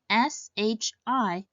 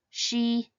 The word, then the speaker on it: shi: Instead, it should be pronounced as Z. Likewise, the pinyin SHI is not she, E, she, but shi.